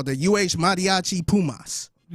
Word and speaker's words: mariachi: So I say they call the uh madiachi pumas.